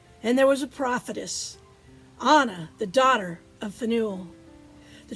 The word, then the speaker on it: Anna: Grace or favor and Anna or Ayanna depending on how you want to pronounce it certainly was favored by